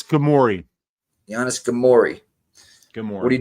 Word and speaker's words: Ghemmouri: I'm not gonna even pronounce that last name. Ghemmouri. Weezy got a better one for it. It's Ghemmouri.